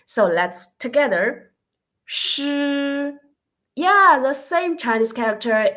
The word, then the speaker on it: 师: 诗 oh, for the consonant it seems like shoes in English, so okay. And next part, the vowel is e, so let's together 诗.